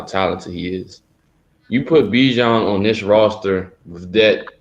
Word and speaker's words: Bijan: Yeah, Bijan.